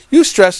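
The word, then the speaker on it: eustress: there is such a thing as UST stress that's spelled EU hyphen stress you stress is what athletes do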